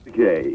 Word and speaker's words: Takei: It is Takei, right, George? Takei. Okay, George Takei. Okay. What's that? Rhymes with okay. Okay. George Takei rhymes with okay.